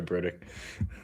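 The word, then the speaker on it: Brodric: We had the kiss of death for Broderick Martin. Sorry, Brodick. Brodick, yeah. That's how it's spelled. It's Brodick, I guess.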